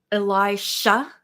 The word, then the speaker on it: Elijah: Elijah, like Elijah Wood with the J.